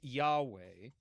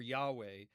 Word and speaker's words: Yahweh: Now, um we we know for a variety of reasons that this would have been pronounced something like Yahweh.